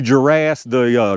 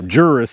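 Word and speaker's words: Jurras: the history of that, Lee Juras, Juris, I should say, I'm pretty sure that's how you pronounce it, with Super Veil, come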